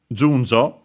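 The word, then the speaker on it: 順序: uh for uh uh Junjo as it says uh in between uh brackets. Junjo uh is uh a uh Chinese compound. Okay, I was also correct that it's accent on the first syllable.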